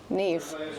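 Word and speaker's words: Niamh: Ne.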